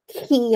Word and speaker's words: Quay: Our next randomly chosen is number 90, guidelines for Quay, I'm going to say it right, even though everyone calls it Quay, usage for CentOS SIG.